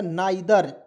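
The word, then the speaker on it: neither: टी एच ई आर तो इसका उच्चारण जो होगा नाइ दर इसे क्या पढ़ेंगे नाइ दर ठीक है नादर का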